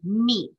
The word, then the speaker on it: mi: Notice that it has E and MI. That's what it's spelled like when you say me. I know we usually spell it ME, but this is not an English language. Like the solfa is not specific to a language. It's made up, it's its own made up language.